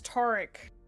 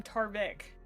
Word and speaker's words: Taric: Yes, Taric. I think I called him Tarvik.